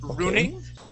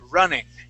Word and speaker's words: running: so first off here you said Runing R but we want to use a short U and say R running running good one more